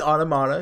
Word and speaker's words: Automata: No, so I recorded a bit of NieR Automata, which that's how you say it. It's Automata. It comes from the word automaton.